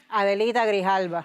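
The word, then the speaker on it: Grijalva: Grihala.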